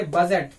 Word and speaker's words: budget: यहाँ पे देखिए BUDGET, डी के बाद फिर आया है जी, डी के बाद अगर जी आता हो या एन आता हो तो डी क्या हो जाता है, साइलेंट हो जाता है। तो इसको हम लोग पढ़ेंगे बजट।